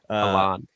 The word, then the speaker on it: Haaland: It's Good. Erling Haaland. Haaland. And so, a lot of people say Haaland.